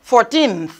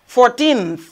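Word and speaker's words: fourteenth: When you are saying it, you try to pronounce it, the TH, right? TH ending. Now I say April 14th. 14th.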